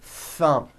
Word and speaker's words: thumb: the th sound thumb it's not good enough just to put your tongue between your teeth and say a th word like this thumb you see that my tongue came out but there was never any air friction that's not good you must stretch out the th sound and hear the air friction like that let's practice